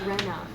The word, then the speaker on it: Rena: pronounced Rena, by the way.